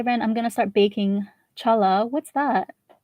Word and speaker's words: challah: I'm gonna start baking challah.